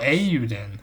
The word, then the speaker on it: Eiyuden: Oh, Eiyuden. Okay. That's how you pronounce it.